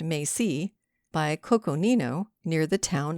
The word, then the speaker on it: Mesa: Like all of Harriman's people, they lived on the Enchanted Mesa, pronounced Macy, by Coconino, near the town of Yorba Linda.